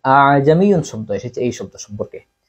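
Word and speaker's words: ءَأَعْجَمِيٌّ: অর্থাৎ প্রথম হামজাকে তাকিদের সহিত উচ্চারণ করা, প্রথম হামজাকে শক্তভাবে উচ্চারণ করা, পরবর্তী যে হামজাটা আছে এই হামজাকে আলিফ এবং হামজার দরমিয়ান অবস্থায় মাঝামাঝি অবস্থায় উচ্চারণ করা।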